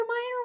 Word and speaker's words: Mayer: Oscar Mayer Oscar Meyer it's Oscar Meer wieners like yes it's Oscar and Myer part is spelled me ye e r or if you're in this universe m a y e r is it Oscar Mayer